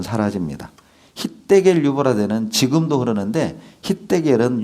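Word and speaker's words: חדקל: hitdekel, 유브라데는 지금도 흐르는데 hitdekel은 유대식 발음이고 영어식 발음은 티그리스 유프라테스입니다.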